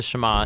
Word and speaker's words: Shema: Now, the first word of the Shema is hear, or listen, which in Hebrew is pronounced Shema.